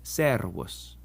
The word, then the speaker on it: servus: The S is always pronounced like it is in the English sut and never like a Z as it is in rose. So in Latin, si and servus.